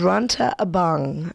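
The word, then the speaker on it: Rantau Abang: Anyway, we went to a place called Ra Abang.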